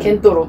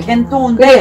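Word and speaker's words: 見当: 정확한 발음은 겐토우인데 뭐냐면 대강이란 뜻이지.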